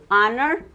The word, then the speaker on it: honor: That's why, because it begins with the vowel sound.